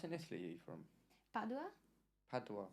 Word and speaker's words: Padua: Padua.